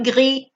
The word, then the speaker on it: gris: Le gris. Atención que la S no suena, ¿eh?